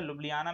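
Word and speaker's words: Ljubljana: ध्यान दीजिएगा, लुब्लियाना में यहाँ जे साइलेंट है, प्रोनाउंसिएशन थोड़ा सा इसका डिफरेंट है।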